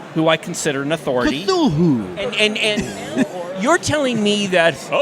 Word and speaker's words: Cthulhu: I think it's James Wan wants to do a Call of Cthulhu.